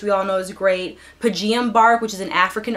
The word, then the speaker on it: Pygeum: But it's Pygeum bark. I think that's how it's pronounced, pygeum or pygeum bark.